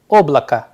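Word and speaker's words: облако: Here again the sound at the end is coming as A in place of O, and here the stress sign play a vital role. That is why the pronunciation of the word oblaka is coming like that, whereas the spelling is O B L A K O, but the pronunciation is coming as oblaka.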